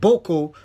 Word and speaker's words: Boko: the house a word Boko the first vowel is long and the second pronounce is a low tone meaning fake which is